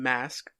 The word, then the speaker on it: Mask: It's spelled just like mask, like what you put on your face.